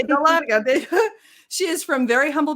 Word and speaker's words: Dahlonega: in the area in a town called Dunloganal? How do you say it? It's actually Dahlonega. Yeah. Okay, Dahlonega.